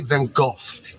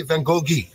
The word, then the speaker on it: Van Gogh: then go find yourself the reason i say van gogh is because in america people say i'm wrong in england people say then golf in provence france they say van gogh nobody can pronounce my